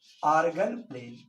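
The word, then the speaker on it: Argand plane: आर्गन प्लेन, D silent है, आर्गन प्लेन, इसका नाम है आर्गन प्लेन।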